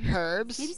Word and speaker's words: herbs: growing in here um it's pronounced herbs there's an h in there hope this blood machine